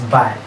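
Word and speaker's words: bae: 2 which is pronounced as by in Ogoni language is spelled as B-A-E, by.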